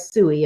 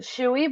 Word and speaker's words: Tsui: I'm with Megan today your last name is Stewie is that correct uh we pronounce it chewy but your clothes which